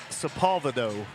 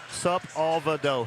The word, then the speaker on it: Sepulvedo: Lord Rice, who is from Dexter, it's Sepulvedo. Yeah, Sepulvedo. He spelled it phonetically for me, so now, Can't mess it up tonight.